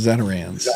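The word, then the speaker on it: Zatarain's: I called it Zatarans, but we're Canadian, so. Well, now you know it's pronounced Zatarans.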